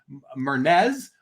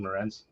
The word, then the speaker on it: Morenz: of guesses for eddie shore albert jones said mernez but i think he met morenz but he